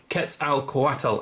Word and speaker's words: Quetzalcoatl: Very, very cool, albeit quite hard to pronounce dragon. Quetzalcoatl, as I've been reliably informed by Macias and